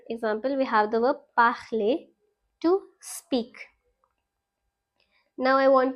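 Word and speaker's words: parlé: Alright, and we pronounce the E. So we say parler.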